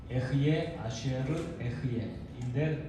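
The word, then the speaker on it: אהיה אשר אהיה: 그때의 히브리어 발음이 에흐예 아슈에르 에흐예인데, 그 히브리어를 번역하면 나는 스스로 있는 자다, 나는 스스로 존재하는 절대자다, 이런 표현이신데요.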